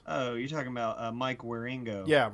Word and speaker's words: Wieringo: you're talking about Mike wieringo yeah Ringo Ringo that's how you say it yeah he did the he